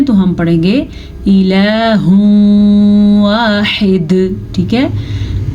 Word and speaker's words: واحد: الہ واحد، ٹھیک ہے۔ جیم پہ وقف کرنا جائز ہے، تو پھر ہم جب وقف کریں گے تو دال ساکن ہو جائے گی، ساکن دال پہ تو قلقلہ بھی ہوتا ہے، یعنی کہ ساکن دال جھٹکے سے پڑھی جاتی ہے، اور ہا کے